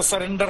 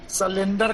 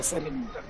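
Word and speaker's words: surrender: लोग उसको देहात में कम पढ़ा लिखा लोग सलेंडर कर नहीं होगा, सरेंडर होगा, सरेंडर। सरेंडर होगा। बोलो, स्पेलिंग बोलो। सरेंडर, SURRENDR। हाँ, सरेंडर। और लेकिन देहात में अनपढ़ लोग सलेंडर कहते हैं, वैसा नहीं होता।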